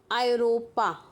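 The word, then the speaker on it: Europa: ठीक है, ऐसे सेकेंड एग्जाम्पल है आयरोपा, आयरोपा।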